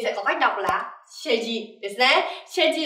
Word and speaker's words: 成人: Mình sẽ có cách đọc là 成人ですね。成人 ở đây là người lớn hoặc là